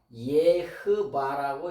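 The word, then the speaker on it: יהוה: 이게 정확한 발음이 아니고 우리는 그냥 여호와라고 쓰지만은 요거는 뭐냐? 예흐바라고 이렇게 읽는 거예요. 예흐바라고 이렇게. 요게 정확한 발음이에요.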